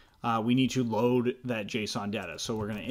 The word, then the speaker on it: JSON: so JSON like that JSON it's pronounced JSON almost like Jason without an a J Shawn okay so